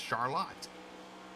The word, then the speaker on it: Charlotte: spelled the same as Charlotte it is not pronounced Charlotte though it is pronounced Charlotte and don't go up that way and say